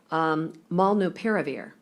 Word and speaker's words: molnupiravir: seems, every 6 months, but this one looks like it could be pronounced molnupiravir.